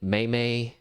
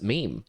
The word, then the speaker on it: meme: We were there were debates on mimi maymay. Uh there was I just remember this one guy adamantly being like it is pronounced Maymay. I was like I don't think that that's right. Mimi. Yeah. Now now it just seems like everyone just says meme, you know.